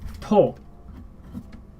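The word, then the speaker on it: とお: And it is not just ju, like ju from before. Ju-ichi, ju-ni, ju-san, ni-ju, san-ju, yo-ju. This is to.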